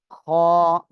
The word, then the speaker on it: خ: হয় তাহলে সেটা হবে খ এই যে গলার শেষ ভাগ থেকে এই অক্ষটা উচ্চারণ হবে খ সবাই একসাথে জোরে জোরে